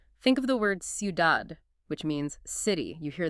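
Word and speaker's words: ciudad: So, a diff thong is basically when two vowels team up and they create this single syllable sound. Think of the word sudad, which means city.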